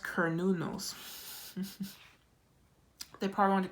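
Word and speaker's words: Cernunnos: Um cernuno life force express your driving passion. sensual and sexual powers are increased. Oh, sorry. It pronounced kernunos.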